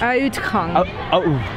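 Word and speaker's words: Uitgang: Ingang heißt Eingang und Utgang, nee, wie spricht man das aus? Utgang. Oh Gott, das ist aber schwierig. Utgang.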